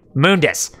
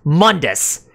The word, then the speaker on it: Mundus: that as I said that's his name moon dis not mundus because that just sounds silly with what is with